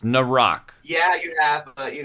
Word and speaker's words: Naerok: what does that mean oh god um before nck um oh I've been saying it wrong every time so it's narck yeah you have but you know I'm too